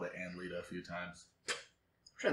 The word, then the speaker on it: Annelida: came in moving on how many times have you had analytica pronounced with a t instead of a d analytica oh thank you do you have to spell it for people not really i mean i hear anne lita a lot and i go okay okay cool i think